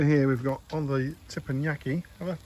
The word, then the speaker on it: teppanyaki: Over here we've got on the teppanyaki. Have I pronounced that correctly? No, you've confused me. Teppanyaki, there's the box. It's teppanyaki.